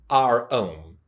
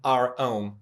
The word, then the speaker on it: ROHM: often, and it's called, I'll just pronounce it R-Ohm, because of the origin of the name of that company. R stands for resistance and ohm stands for, well, ohm.